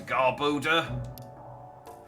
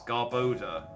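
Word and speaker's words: Garbodor: you ever talk to garboda oh I'm getting garbage and odor that's why it's pronounced like that I'm such an idiot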